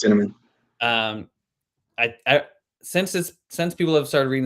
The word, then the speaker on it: Dinniman: Yeah, it's Dinniman.